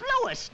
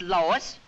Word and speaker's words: Louis: Me name is Louis, not Lois. Gee whiz, everybody interpolates me name wrong. It's Louis.